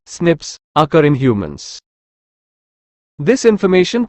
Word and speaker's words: SNPs: single base DNA differences snps single nucleotide polymorphism pronounced as Snips occur in humans this